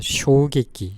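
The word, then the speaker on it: 衝撃: 주다 깜짝 놀라게 하다 충격을 쇼객끼라고 읽습니다 쇼객기 쇼객기 이 충전은 부딪칠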